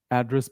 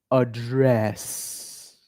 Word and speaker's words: address: a speech right now, this same word address becomes address. Repeat after me. Now this is an action. I repeat this is an action now. So the stress is on the second part of the word.